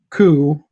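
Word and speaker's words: Cú: into the water, and their dog, Coo, which it's spelled C-U, and I thought that's such a cute name for this giant dog, Coo.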